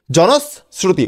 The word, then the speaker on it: জনশ্রুতি: দন্ত সরা রসু তরশ্মি শ্রুতি জনশ্রুতি জনস্রুতি উচ্চারণটা হবে এরকম আর বানানে লিখবো আমরা এরকম বুঝতে পারছো বানানটা লিখবো এরকম আর উচ্চারণ করব এরকম বুঝতে পারছো সবাই আর